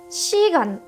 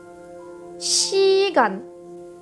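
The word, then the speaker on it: 시간: prononce che parce que avec un son I le ce va se prononcer che on va arriver à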